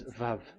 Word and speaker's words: Vav: We called it as VAV. VAV. Your mouth is like closed. VAV. So it's V as in Vogue.